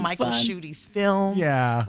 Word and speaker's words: Schuette: Schuette is So I've heard Schuette, Schuette. It's German, I believe. I've also heard that it's French. I've heard German people say, no, you're saying it wrong. It's pronounced Schuette or something like that.